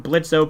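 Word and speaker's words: Blitzø: members of imp including blitzo pronounced Blitz the boss of the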